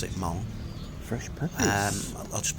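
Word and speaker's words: Hmong: know how to pronounce this but apparently you pronounced it Mong fresh PPP um I'll just put it in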